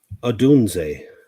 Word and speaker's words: Odunze: Odunze. O'Doomsday. Sorry. Yes, you got it. I always add an extra D in there.